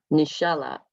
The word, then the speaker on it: Nishala: it's a lovely reunion nishala and let me know if i'm mispronouncing your name please no you did pronounce that's correct yeah my name is